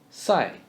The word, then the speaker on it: 赛: same as s 比赛比 is the English word be in the third tone 比比赛 is the word side without d sound side 赛比赛